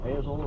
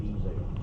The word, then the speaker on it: Ezel: Well, I it's it's been pronounced Hazel and Zale and all of them. The old-timers, we all just us country folks always called it Ezel.